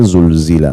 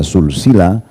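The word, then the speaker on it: زلزلت: Tapi kalau kita tidak bedain, kita bacanya pakai sin, isa sulsila, silsila sulsila, itu ya bisa berarti bersambung-sambung, ya, jadi berbeda makna.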